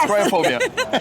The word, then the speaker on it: Kriophobia: First of all, how do I pronounce it? Luigi. Oh, the game. It's Kriophobia.